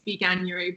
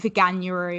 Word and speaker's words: Veganuary: No, because Veganuary, it's not how you say vegan, but it is how you say January. So I would assume that it is Veganuary, but no, I've never